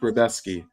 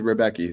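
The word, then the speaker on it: Rebecki: So his name's pronounced Rebetsky. I got to remember that because it literally says Rebecca. So Rebetsky.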